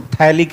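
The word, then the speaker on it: phthalic: तो याद रखना इसको थैलिक एसिड बोलते हैं। क्या बोलते हैं जी? थैलिक acid. pH यहां पे साइलेंट रहता है, ठीक है।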